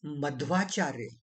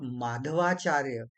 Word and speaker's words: Madhwacharya: Uh, it's Madhwacharya and not Madhvacharya, as many people wrongly pronounce.